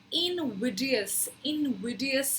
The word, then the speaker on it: invidious: सो इनविडियस है इसकी सही प्रोनाउंसिएशन।